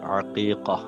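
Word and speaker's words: عقيقة: അഖീക്കയെ സംബന്ധിച്ച് ആദ്യം മനസ്സിലാക്കാൻ ഉച്ചാരണം ഐനാണ് അഖീഖ രണ്ട് കാഫ് പുള്ളിയുള്ള കാഫ് അഖീഖ അഖീഖ അറുക്കൽ സുന്നത്താണ് അത്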